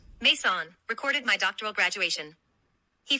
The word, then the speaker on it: Maison: Maison, pronounced Maison, recorded my doctoral graduation.